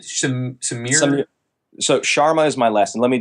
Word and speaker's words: Sharma: say your last name shouldn't me some so Sharma is my lesson let me just spell it for you yeah s am ier sha